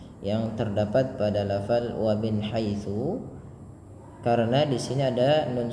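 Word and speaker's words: حيث: Tsa hati-hati dalam pelafalannya agar tidak terbaca dengan haisu tapi dia tsa.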